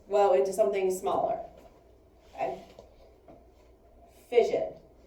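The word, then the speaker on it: fission: Fision. Fision sounds like the word division.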